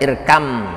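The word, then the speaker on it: اركب: kesayanganku gitu ya Ir maana tulisannya irkab Tapi bacanya irkam karena ba sama mim itu makhrajnya sama hanya beda sifat mana-mana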